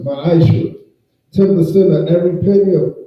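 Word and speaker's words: ma'aser: Means 10th in Hebrew and is pronounced ma'ashra.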